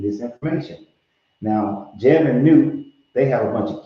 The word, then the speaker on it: Nut: So all the 9 of the 9 different gods, they are, yeah, I said nut, but it's Nut, yes.